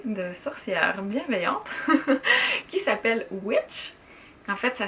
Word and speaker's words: Witch: lancé une communauté de sorcières bienveillantes qui s'appelle Witch. En fait, ça s'écrit OUITCH.